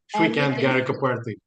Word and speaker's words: Srikanth Garikaparthi: Srikanth, if I'm not pronouncing it correctly, then blame Google, don't blame me. You did very well. Srikanth Garikaparthi.